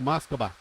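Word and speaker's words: Москва: it really depends uh it's actually moscova what moscoa yeah that's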